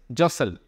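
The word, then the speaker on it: jostle: हैं next word इ जसल T silent होता है जसल रेफरेंस चाइनीज पॉलिटिकल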